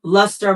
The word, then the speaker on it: Lustre: And luster is spelled L U S T R E. Um, so it's kind of spelled the E and the R are backwards, but it's Luster by Mel.